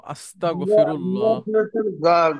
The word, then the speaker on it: আস্তাগফিরুল্লাহ: গ উচ্চারণ করি কিন্তু ওই যে গইন যেটা ওই গটা আসলে আমাদের উচ্চারণ হয় না আর হ্যাঁ গ দিয়ে বললেও হবে আস্তাগ ঠিক আছে আস্তাগ কিন্তু অনেকে ক বলে একদম না আমরা নেভার কনসেই লেভেলের